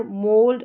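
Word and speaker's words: mould: तो यहाँ पर ओ यू का उच्चारण ओ करके हो रहा है, जैसे शोल्डर, ना तो आउ हो रहा है ना यहाँ पर ऊ हो रहा है या लॉन्ग वाला ऊ हो रहा है, ठीक है, यहाँ पर हो रहा है ओ करके, शोल्डर, मोल्ड, और ये है फ्लोर,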